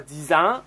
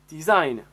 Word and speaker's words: design: que c'est un anglicisme les anglicismes les mots d'origine anglaise doivent être prononcés souvent comme en anglais par exemple on ne dit pas bbc c'est une erreur il faut dire bbc on ne dit pas dix ans on dit design après vous avez le